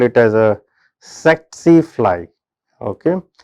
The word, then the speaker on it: tsetse: call it as a tsetse fly, okay. Here T is silent, just for your information. It is transmitted through tsetse fly, which is a Glossina species, which is found in sub-Saharan Africa.